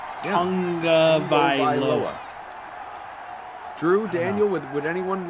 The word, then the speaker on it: Tagovailoa: But there's no like N there, so it always like, are we really pronouncing it correctly? Yeah. Or is this just the way we've all decided it sounds? No, I've heard him say it. Tongue, like a tongue in your mouth.